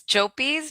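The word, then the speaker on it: Llopis: So it's Jopis because of the the double L. Yeah. that. Yeah. Okay. so the double L makes kind of like a J or a Y sound.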